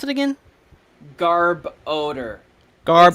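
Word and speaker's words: Garbodor: you pronounce it again Garb odor Garb it's literally just garbage and odor okay Garb odor okay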